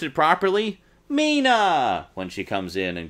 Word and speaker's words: Mina: it's pronounced Mina but all but one character pronounced it Mina Mina Mina Mina Mina Mina miss Mina Mina Mina Mina Mina it drove me crazy and the one character who pronounced it properly Mina when she comes in and greets her at